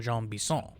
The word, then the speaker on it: Jean Bison: to get train schedules for uh for uh Jean Bis.